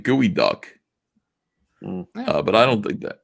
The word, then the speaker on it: geoduck: They're saying it's pronounced gooey duck.